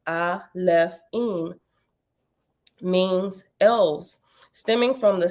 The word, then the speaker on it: Alefim: the plural form that the plural alaphene pronounced I left in means elves stemming from